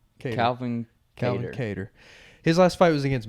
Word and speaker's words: Kattar: Was it Cater or Qatar? How do you say his name? Cater. Calvin Kattar.